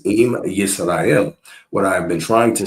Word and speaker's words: Yisrael: But that's perfect, because you did pronounce it Israel. So that's no, perfect. I didn't. I did not. I just said Okay, Yisrael. Yis is not is. Oh, Yisrael.